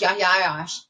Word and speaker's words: Yahya Ayyash: His name was Yahya Ayyash. There's several different spellings of that, so you may see it one way or the other, but it's pronounced Yahya Ayyash.